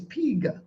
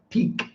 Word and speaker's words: pig: Okay, firstly, let me pronounce it properly for you, okay? It's pig. Okay? Pig. Most students are going to pronounce this peak. So firstly, you got to work on the I, And then you've got to work on the G, which is another lonely,